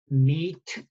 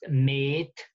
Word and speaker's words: meet: So one would, in Chaucer's life, the meaning to encounter would have been pronounced met, and the other, the flesh, would have been pronounced mat. Met and mat. Okay, two different sounds. By Shakespeare's time, to encounter would have become meet, and the other would have become mate.